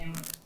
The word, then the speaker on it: Amherst: Learn to pronounce names correctly, like we correct those who pronounce the H in Amherst.